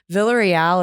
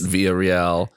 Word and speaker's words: Villarreal: do filipinos pronounce it filipinos pronounce the double l villa so it's vilia real wow yeah because there